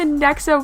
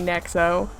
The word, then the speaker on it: Nexo: jarring they refer to nexo Powers as NEX powers and I I just I know why they did it but also is it really that hard to just say nexo even in Japanese it's